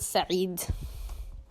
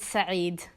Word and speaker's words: Said: I think it's Sayed, or is it Saeed? Can we have hold on, let me Google this real quick. Okay, his name is Edward Said.